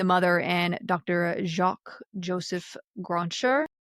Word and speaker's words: Grancher: Jacques Joseph Grancher, How do who you spell it? encouraged it's French. It's Grancher, Grancher.